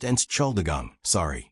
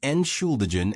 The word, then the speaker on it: Entschuldigung: When I mispronounced Entschuldigung, as Entschuldigen in a crowded U-Bahn, and a teenager giggled.